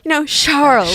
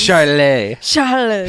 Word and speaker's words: Charles: I thought this was a fancy form of Charles. Charlet. Herbert. Charlet. No, not at all. Just plain old Charles, like an American.